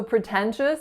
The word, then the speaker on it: pretentious: So pretentious has 3 syllables. The first one is pr. So make sure that first syllable is a schwa. The second syllable is the winner, ten, with a lax eh sound. And the final syllable is chus. So a ch sound followed by a schwa followed by an s.